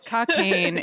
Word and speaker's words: Cockaigne: Cocaine. It's pronounced cocaine.